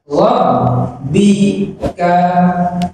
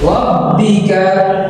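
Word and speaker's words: ربك: শিখি রব্বি কাব্বি কা রব্বিকা এই শব্দের উচ্চারণ হচ্ছে রব্বিকা রব্বিকা এই শব্দের অর্থ হচ্ছে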